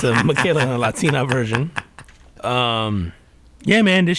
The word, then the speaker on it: Miquela: Lil Michaela is the Lil Michaela. So and Michaela, let me spell that out because it is a little unique. It's at Lil Michaela, so LIL, and then it's MIQUELA.